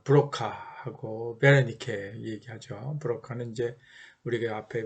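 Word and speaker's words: Wernicke: 언어는 듣고 말하고 말하고 듣고 듣는 부분은 우리가 귀에 그 윗부분 그 좌뇌 쪽으로 생각하고 베르니케라고 뭐 W를 쓰지만 독일식 발음으로 베르니케 브로카는 이제 좀 프랑스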